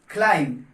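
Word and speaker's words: climb: तो आप आज से इसको बोलेंगे क्लाइंब, क्लाइंब ना कि क्लाइंब।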